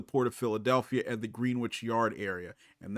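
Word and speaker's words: Greenwich: of Philadelphia at the green witch yard area and that is how they pronounce their green witch not greinwich um that is going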